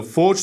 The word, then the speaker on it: forged: Şimdi her şeyden önce Forget for cutie Ya da doğru telaffuz ile Force ne demek önce bunu